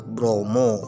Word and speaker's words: Bromo: Oleh karena itu nama Gunung Bromo tersebut ya diambil dari nama Brahma, karena pelafalan orang Jawa ya, atau orang Jawa, kata A jadi O pemirsa ya, Bromo. Waduh, Brahma jadi Bromo.